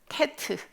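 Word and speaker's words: טית: 하나 더 나가 볼게요 자 이건 테트 에요 테트 그래서 tu 발음이 납니다 튜브 발음이 나는 패트 에요 테트 자 패트 테트 는 tu 빠름 입니다 자 앞에서 부터 테트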